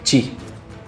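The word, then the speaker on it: qi: esa manera escrita en chino simplificado transcrita o transcripta diría yo como keying figura de esa manera, ¿no? Pero eh en la cultura china tradicional, el kil pronunciado chi en mandarín estándar e es el principio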